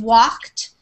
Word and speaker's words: walked: the end finished and walked it's almost like it sounds like walked like that with a T at the end that's how we pronounce